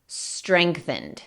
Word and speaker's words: strengthened: Strengthened. Aquí sí, cada letra que ves se pronuncia, pero la G termina sonando un poco más como una C o una K.